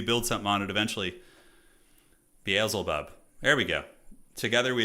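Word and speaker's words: Beelzebub: Uh, Baselbub, is that how you say it? Bezelbub. I probably just been saying it wrong on on not on Ax, but like I just was reading it wrong.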